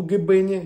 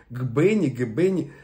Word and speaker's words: Гъбене: В этом селе я не был, Гбене, если я не ошибаюсь, опять в ударениях, Гбене, извините, вот.